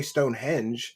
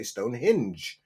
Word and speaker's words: Stonehenge: She doesn't say Stonehenge. I've heard her many times say Stonehinge, you know?